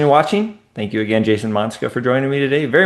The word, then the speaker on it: Monczka: It's Jason Monczka, but it's spelled Monczka. Right.